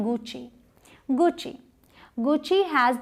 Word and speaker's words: Gucci: तो जैसे नाइक नहीं प्रोनाउंस करते, नाइकी करते हैं, वैसे इसे गुस्सी या गुकी ऐसे नहीं प्रोनाउंस करते, इसे प्रोनाउंस करते हैं गुची, गुची।